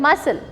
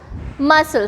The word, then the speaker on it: muscle: ये sound बोल रहा है muscle, लेकिन लिख रहे हैं इसको muscle.